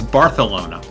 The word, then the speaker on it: Barcelona: It's Barcelona.